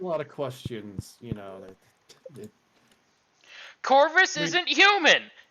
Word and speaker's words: Corvus: Corpus all you want it's actually it's like core bus but I keep saying it wrong because that's how I read it the first time that's how my brain